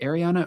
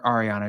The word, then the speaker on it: Ariana: Ariana, I was like, is it Ariana or Ariana? She's like, it's whatever you want to call me.